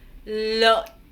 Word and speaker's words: lợn: Et E avec le N ensemble se prononce un. Vous n'allez pas prononcer complètement le N. En fait, au lieu de dire un, vous faites un et vous arrêtez là. Un. Et avec le point, l'ensemble donne la.